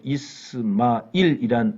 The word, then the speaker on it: 이스마일: 그런데 꼬란에 등장하는 이스마엘은 8개 장에서 이스마일이란 아랍어 발음으로 12번 언급이 되었고 그와 관계된 내용은 대단히 많습니다.